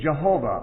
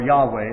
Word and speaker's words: Yahweh: bible you'll find the name jehovah or yahweh it's the same name different pronunciation or jehovah these are the principal name of